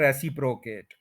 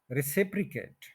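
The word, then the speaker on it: reciprocate: एक वर्ब होता है उसको देखने में बोल दिया जाता है रेसिप प्रोकेट जैसे स्पेलिंग हुए हैं वैसे ही बोल दिया रेसिप प्रोकेट लेकिन यह वर्ब है रिसिप्रोकेट जिस जिस के आपके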